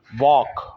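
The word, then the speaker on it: walk: वालेकुम रहमतुल्लाह व बरकात वॉक वॉक का मतलब है पैदल चलना चलना और इसमें एल साइलेंट है इसकी तीन फॉर्म्स है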